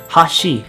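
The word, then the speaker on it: はし: pronounce it in conversation when you're pronouncing Hashi in the sense that you want it to mean Chopsticks you go from a high to low pitch pattern so basically it might sound something like Hashi in contrast when you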